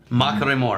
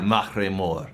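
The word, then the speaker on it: Machrie: no I do regularly it's not a Trill it's a tapped R it's one tap ma maore mink maore got put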